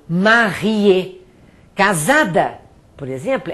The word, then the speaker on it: marié: Eu só pronuncio o E final quando ele for acentuado. Por exemplo, casado, marié.